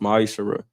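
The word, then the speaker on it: ma'aser: You can find this in the book of numbers 18 21 in the book of Malachi 3 8-10 means 10th in Hebrew and it's pronounced maishara 10% of every penny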